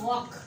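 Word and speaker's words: walk: उसके बाद मैंने वर्ड लिखा वॉक। तो ए और के दरमियान में एल फिर साइलेंट है, वॉक, टॉक।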